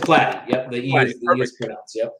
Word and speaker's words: Platte: how that happened totally is it plotty or plaque it's flat excellent so um we